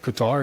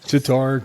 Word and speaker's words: Qatar: Qatar? Is that how you pronounce it? Kind of like Guitar. Qatar, Qatar. Tartar, Guitar, like the Tar stuff, baby.